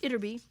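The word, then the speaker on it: Ytterby: Village with a funny name uderby pronounced iterby and meaning outer Village the iterby Quarry supplied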